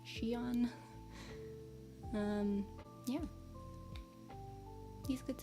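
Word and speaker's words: Xion: of confusing it's x i o n but pronounced Shan um yeah he's a good singer and performer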